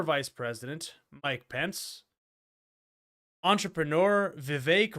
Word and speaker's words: Vivek: president Mike Pence entrepreneur Vivek rhymes with cake ramaswamy and Senator Tim